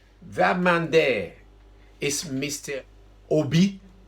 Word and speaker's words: Obi: man there is mr obi don't pronounce it like english people it's obi ob that's